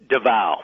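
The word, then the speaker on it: Davao: Escape from I'm going to how do I pronounce this? Is it Davo? Dva.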